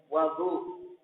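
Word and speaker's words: وَضوء: Wa bi fathil wawi, dan dengan difathahkan wawunya, berarti bacanya wadu. Tadi bacanya wudu, sekarang bacanya wadu'un.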